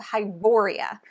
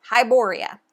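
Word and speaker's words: Hyboria: around the map of hiboria I'm pretty sure that's how you pronounce it I don't know how else you would but hiboria okay there's a bunch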